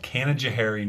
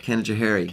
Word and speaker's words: Canajoharie: I grew up in a little town about 50 miles from here called Canajoharie, New York. Canajoharie. Canajoharie.